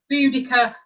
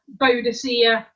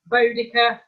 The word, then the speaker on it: Boudica: A bit like Boudica, Boadicea, Boudica, and she likes Boudica, by the way.